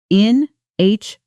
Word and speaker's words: inhibited: Notice the stress pattern, inhibited. The stress falls on the second syllable, hib.